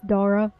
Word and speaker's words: Dora: I was right. It is Dora.